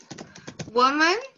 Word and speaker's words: woman: Um tem som de U, woman.